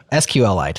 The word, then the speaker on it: SQLite: I don't know I always say it wrong sqlite there you go that's the correct way of